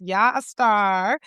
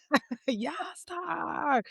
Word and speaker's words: Yaya Starr: It's so cool cuz I feel like I'm calling you a a star when I say your name. And you are. Yaya Starr.